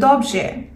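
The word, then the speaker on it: dobrze: সেক্ষেত্রে সে যদি বলে সে ভালো আছে, তাহলে বলবে দবজে, দবজে।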